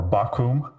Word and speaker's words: Bakkum: And the names of my guests are Bakkum, or Bakkum, as it's pronounced in German, and Jonas Schnelli, who is also a Bitcoin core developer, and this is going to be very interesting.